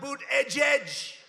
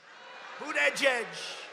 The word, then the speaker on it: Buttigieg: How about Buttigieg? Buttigieg. They call him Mayor Pete. You know why? Because nobody can pronounce his name.